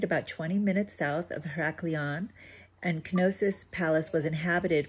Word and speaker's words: Heraklion: Is it Heraklion? In Greek, the hero is called Heracles. So it's Heraklion. But in English, the same hero is called Hercules. Oh. Therefore, Heraklion, the Latin pronunciation.